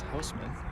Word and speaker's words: Hussman: Now batting number 6, Bill Hussman. Have announcers at this game. This is Bill Hussman, according to the umpire. Correct pronunciation is Houseman. There you go, Bill.